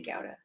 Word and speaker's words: gouda: the gowda got it whatever people pronounce it as i think we'd say gowda people say gouda i don't know it's dutch who cares um so with this